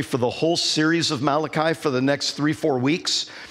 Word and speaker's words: Malachi: first thing you need to know is it's Malachi not mulashi gauge so that's the first thing let's pronounce it right I'm gonna yeah it's it's